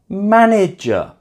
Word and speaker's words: manager: 3-syllable words that end with the letter ER or LY, they're normally going to be stressed on the first syllable. For example, manager, not manager.